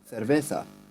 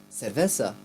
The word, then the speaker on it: cerveza: He has a more like, so he pronounces things with say cerveza, where the C is pronounced more as a th.